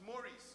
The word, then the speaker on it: Maurice: And in fact, Maurice in Guyana is pronounced as Maurice, correct? Yes. And Morris is pronounced as Morris.